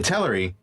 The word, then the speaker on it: Teleri: chapter 4 is the Teleri have The Teleri, excuse me, have just come over. I know I pronounced it that way for a long time, too. But when Christopher Tolkien pronounced it himself, does kind of uh